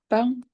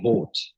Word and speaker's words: bought: I bound. Presque. Presque. I bought.